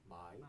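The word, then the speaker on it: 买: 중국 발음으로는 마이.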